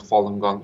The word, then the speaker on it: Falun Gong: I'll share with you like you say what Falun Gong is it's a simple spiritual meditation Jason it